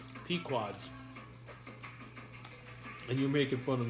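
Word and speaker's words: Pequod's: I was right, it's pronounced Pequods. And you're making fun of me. Pequods.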